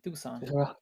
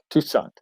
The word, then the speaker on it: Toussaint: That's how you this pronounce his name. Tucson. Toussaint.